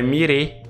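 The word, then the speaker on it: Μοίραι: na mitologia grega e a pronúncia disso aqui corretamente no Grego é mire aí você vai ver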